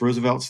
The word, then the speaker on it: RSVLTS: So, um I I have a whole collection of Roosevelts is the name of the company, RSVLTS, um pronounced Roosevelts.